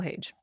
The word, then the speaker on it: Hage: Is that how you pronounce it? Yes, Michael Hage.